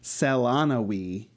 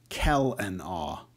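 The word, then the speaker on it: Celanawe: between Bastion and Delvin to help make it clear that it's not Selanawi, but Kel-an-aw.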